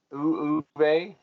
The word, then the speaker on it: Uwe: That's how you pronounce the name? Uwe.